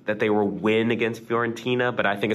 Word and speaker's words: Fiorentina: All right, now our next game, we have Atalanta versus Fiorentina.